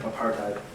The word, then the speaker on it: apartheid: they were having such problems down there with, pronounce that word for me. Apartheid.